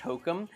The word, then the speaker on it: Hocum: always like your last name because it's very close to hokum and actually it's so funny uh a lot of times when when like i tell people my last name hokum they will spell it